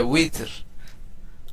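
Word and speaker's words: وتر: আমরা আমরা বলি না বিতির নামাজ, আসলে বিতির না, শব্দটা হচ্ছে উইতর। উইতর, ওয়াও, উইতর।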